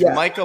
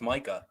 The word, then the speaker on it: Micah: zappy is that true it's Micah Parsons it's dude it was Mika Parsons his entire career at Penn State was positive it's Micah dude but they said Tua